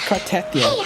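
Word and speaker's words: Cartethyia: No, it's Cartethia.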